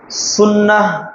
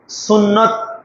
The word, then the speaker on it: সুন্নাহ: সময়ে আলোচনার বিষয় সুন্নাহ এর অনুসরণ। সুন্নাহ বলার চেষ্টা করব সব সময়। আপনারা এই সুন্নাহ বলতে সুন্নত বা সুন্নাত বুঝার চেষ্টা করবেন, কেননা সঠিক উচ্চারণ হলো সুন্নাহ।